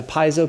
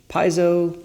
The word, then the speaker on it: piezo: Number 2, this has got the piezo pickup. How do you say it? Piezo? That's how I say it. Yeah, Southwest Missouri, we roll with piezo.